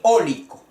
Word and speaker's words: cólico: se escucha el acento el cólico el acento va en la o y olic o la